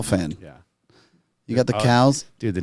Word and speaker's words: CAO: you say it but it's spelled CAO I'll try find the cow yeah we have the